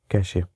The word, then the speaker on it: cache: कैश memory, कैशे memory, एक कैशे pronounced कैश इज a small and very fast memory.